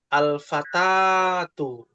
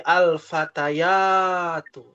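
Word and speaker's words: الفتيات: Ee jadi ee cara bacanya bukan alfatatu tapi menjadi alfatayatu ya. Jadi bukan hanya ditambahkan alif dan ta, tapi ada ya-nya di situ dengan tambahan karena sebab bertemunya dua alif.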